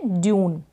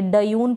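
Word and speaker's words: dune: यानी टयून करके नहीं पढ़ेंगे, डयून पढ़ रहे नहीं, ड्यून बोल रहे हैं, इसका मतलब आधा अक्षर पढ़ा जा रहा है।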